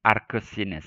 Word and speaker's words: arcus sinus: Atau dibacanya kadang arcus sinus ya.